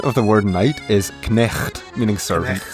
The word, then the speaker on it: knecht: Dutch equivalent of the word knight is knecht, meaning servant. Notice how in Dutch the K is pronounced.